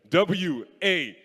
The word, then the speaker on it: water: W-A-T-E-R at the end. Cholocho taught me. It's actually W-O-T-A. The ara is silent. It's very silent. It's water. It's water.